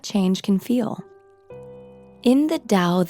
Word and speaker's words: Tao Te Ching: In the Tao Te Ching (Pronounced: Dao The Jing), ancient Chinese philosopher Lao Tzu (Pronounced L-ah-oh D-zoo) wrote: "Life is a series of natural and spontaneous changes.